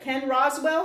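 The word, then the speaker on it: Ken Rosewall: you said who's the oldest winner and I pronounced it wrong how is it Ken Roswell I'm gonna tear you up was 37 years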